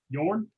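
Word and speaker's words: Jørn: Yeah, I think the Norwegians pronounced that J with a Y sound. It's a soft J.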